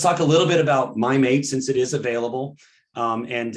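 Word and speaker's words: Mim8: So Novo Nordisk, they're pronouncing it Mimate. I think it looks like Mimate, but we'll go with Mimate.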